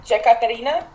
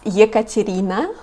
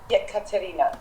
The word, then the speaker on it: Ekaterina: So you pronounce it Jekaterina? No, it's Ekaterina. Yekaterina.